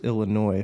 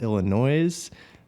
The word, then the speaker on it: Illinois: California who call it Illinois. That's not... People do that? People do that. Really? That's rough. Yeah. That's rough. I'm surprised. The S is silent.